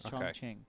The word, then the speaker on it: Chongqing: Are we going to talk about the pronunciation? Is it Chongqing? I don't know. I've heard Chongqing. Chongqing. I heard Chongqing. Chongqing. I've heard a lot. Ching? Kevin? Chongqing. Kevin tells Chongqing. us it's Chongqing.